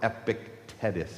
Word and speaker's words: Epictetus: Ancient Greek philosopher Epictetus, I think is how you say his name, he said it so perfectly.